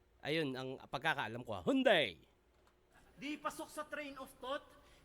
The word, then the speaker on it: Hyundai: k uto accent y Alam ko ang tamang pronounce ng Hyundai ay Hyundai dito sa atin ang tawag Hyundai pero ah B because ng ibang pin Hyundai pero ang pagkakaalam ko ang tamang pagbikas ay Hyundai Ayun ang pagkakaalam ko